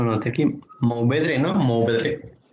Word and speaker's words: Mourvèdre: Mourvèdre. Ajá, sin pronunciar nada más la E, Mourvèdre, ¿no?